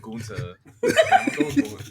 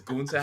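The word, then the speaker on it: Gunther: Is Gunta how you say? I'm saying it. I'm putting the emphasis on the ta and Gunta.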